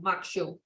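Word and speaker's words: maque choux: crawfish corn mock choke pronounced shoe of makshu there best served as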